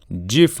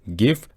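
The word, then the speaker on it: GIF: و شماره 9 هم جیف نیست، به اشتباه خیلی میگن جیف، اما یادتون باشه این جی اول این گیف از گرافیک میاد، ما که نمیگیم جرافیک، میگیم گرافیک.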